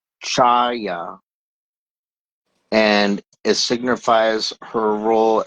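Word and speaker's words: חוה: Um, Eve in Hebrew uh is pronounced Chaya and it signifies her role as the progenitor of humanity and it means for life or living.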